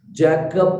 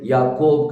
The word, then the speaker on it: याकूब: वाई यूज करना है जकब करके बोलते हैं वो जैकब नहीं है याकूब करके है सो वही आ जाता